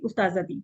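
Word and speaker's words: أستاذة: Sorry उस्ताजा, यस, फिर कहेंगे उस्ताज़ाती, क्योंकि उस्ताजा हम बोलते हैं ना, ता को साइलेंट एंड में कर देते हैं ना, वैसे होता है उस्ताजा।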